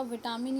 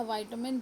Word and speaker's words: vitamin: अब देखिए जैसे विटामिन, जो आपका विटामिन या वाइटामिन दो तरह से प्रोनाउंस किया जाता है, तो अब विटामिन